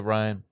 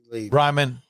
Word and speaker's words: Ryman: You get to play at the Ryan. Ryman. Sorry. Ryman. What'd you call it? Ryan. So I just wouldn't pronounce it right.